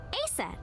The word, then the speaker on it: Aset: Horus's mom is named Isis, but in ancient Egyptian, it's pronounced closer to Ise or Aset.